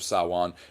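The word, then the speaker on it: Samhain: Um and that led to several of the different practices that came at Sawan which is s a m h i n. It's mis it's pronounced sawan though and that is the end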